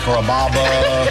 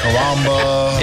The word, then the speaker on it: Kaba: a real Sicilian name growing up people always had a hard time pronouncing my name people chop it up pretty good you know Kaba kababa Kaba it's a really easy name to pronounce it's Kaba come to